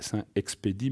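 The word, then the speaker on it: Saint-Expédit: dit lutter saint expédit normalement chez nous on ne prononce pas les dernières mètres donc c'est saint expédit mais un thé à la fin et cet expédient est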